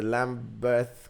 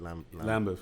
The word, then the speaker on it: Lambeth: He's a lecturer of film studies and media production at the Lambeth College, London, right? I pronounced that right. Lambeth, yeah.